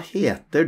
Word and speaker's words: heter: Hva heter du? What's your name or what called you? Notice, we don't pronounce the H sound in va, just the V sound. Va heter. Here we pronounce the H sound.